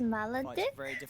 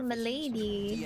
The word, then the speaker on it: Maledic: Oh, it's pronounced Maledic? I thought it's like Milady. DM and no one continues. That's Maledic.